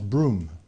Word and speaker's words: Broom: le Broom Broom bridge donc ça se prononce Broom c'est un peu comme mon prénom c'est euh et donc